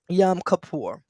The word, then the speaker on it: Yom Kippur: go and look it up for the proper pronunciation but it's y o m k i p p u r yum kapoor and that is amazing how the shooting took